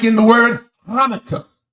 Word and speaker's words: Hanukkah: You h like in the word Hanukkah. Hanukkah spelled with a ch. But you don't pronounce the ch or cl.